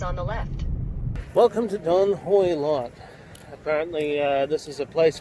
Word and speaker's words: Don Hoi Lot: Don Hoi Lot. Don Hoi Lot.